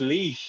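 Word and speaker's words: Laois: No, it's pronounced leash, as in dog leash, L-E-E-S-H.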